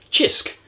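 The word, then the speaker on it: Cisk: I'm inspired by a drink, a beer, that I tried in Malta called Chisk. I do believe that's how it's pronounced.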